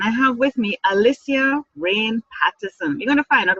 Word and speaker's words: Reign: memory and from and it's not spelled raim it's spelled re you know like a king in reigning queen rain okay so Alicia is